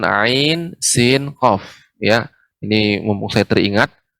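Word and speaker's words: ع: Jadi pengucapan ain itu ai dulu. A dan I, ai, baru masuk ikhfa ke sin ya. Ain sin qaf.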